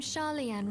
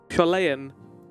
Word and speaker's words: Sharlayan: does the name Sharlayan ring any bells? Not how you pronounced it. Sharlayan.